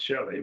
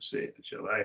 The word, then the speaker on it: Chile: the country Chile but we call it Shelly but Chalet I think's how to pronounce it South America that country